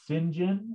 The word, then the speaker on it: St John: uh walter st john st john sometimes in england gets pronounced sinjin i'm not sure if